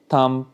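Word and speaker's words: thumb: जो first column है इसमें बी जो है वो साइलेंट है मींस वहां पे बी की साउंड आपको सुनाई नहीं देगी जब आप इन वर्ड्स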